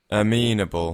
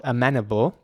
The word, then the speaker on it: amenable: right here quite short amenable and in British English this is dragged out this is elongated this is pronounced very long amenable for some reason